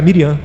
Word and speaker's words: Miriam: Falou para Miriam, a pronúncia em hebraico é Miriam.